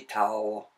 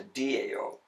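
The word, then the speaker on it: Tao: second about the transliteration system because we would pronounce that the towel of Tai Chi Chuan right okay and the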